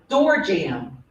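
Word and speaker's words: doorjamb: Your word is door jam. That's incorrect. Very good. It has a secret silent B at the end.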